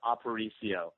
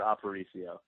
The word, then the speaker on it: Aparicio: Just for your own personal reference, that's Aparicio, Aparicio. Oh, look, see, that's fancy right there. Aparicio.